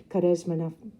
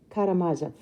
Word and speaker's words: Karamazov: lent me the brothers charesma and i lied to you and told you i read it that's a big um it's a russian novel and i probably didn't pronounce it correctly the brothers karamazov and it's a classic